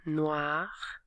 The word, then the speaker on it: noir: Noir. Get that wah wah wah. Noir.